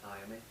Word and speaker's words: Iommi: How do you pronounce his last name? Iommi.